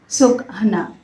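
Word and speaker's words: Sokna: इस प्रतीक में इसे सुकना कहा जाता है। S-O-K-N-A का उच्चारण सुकना के रूप में किया जाता है। एस-ओ-एच हाइफ़न के-एच हाइफ़न एन-ए. सुकना।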